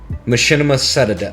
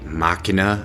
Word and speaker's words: Machina: editing I realized that this word is very obviously machina, and for some reason during the course of this video I mispronounced this maybe 72 times, so I'm really sorry